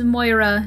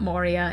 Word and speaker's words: Moira: Josh on YouTube said the rebel Queens name is Moira not Moria and unless I misheard